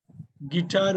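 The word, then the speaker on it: guitar: சார் வாசனை send கிட்டார் கிட்டார் வந்தது இருங்க கிட்டார் கி வந்து டி சைலென்ட் இல்ல ஒரே ஒரு நிமிஷம் கிட்டார் வந்து நீங்க டி உச்சரிக்கிறீங்க ஒரு நிமிஷம் என்ன பண்ணனும் யூ சைலென்ட் நல்லா பாருங்க யூ தான் சைலென்ட் யூ தான் சைலெண்ட் பார்த்துக்கோங்க இசைக்கருவி இட்டாங்கிறது இசைக்கருவி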